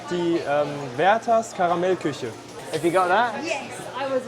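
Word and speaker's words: Karamell-Küche: hard but um it's called the um vas caramel cush have you got that yes I was right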